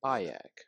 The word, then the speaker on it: Bayek: Bayek, that's how you pronounce his number.